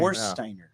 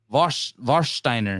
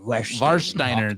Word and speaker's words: Warsteiner: Warsteiner. Varsteiner. Oh, Varsteiner. The W is Oktoberfest.